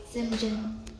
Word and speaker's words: St. John: John, which is pronounced St. John.